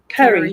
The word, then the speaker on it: Carrie: Carrie. Kerry. Carrie. Yep. Like carry on my wayward son.